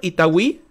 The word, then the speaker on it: Itagüí: Lo he dicho bien, ¿verdad, Harold? ¿Itagüí? Sí. Perfecto. Así se pronuncia.